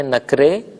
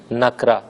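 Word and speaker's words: نکره: تلفظ کرتے ہیں معرفہ، فارسی میں کہتے ہیں نکرے اور اردو میں نکرہ۔ صحرا ریگستان، باز دوبارہ،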